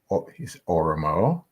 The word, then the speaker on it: Oromo: And speaking about the different types of the societies that are there in Oromo, I'm pronouncing it right?